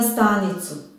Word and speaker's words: stanicu: Na stanicu. Ovde je naglašen slog sta. Stanicu.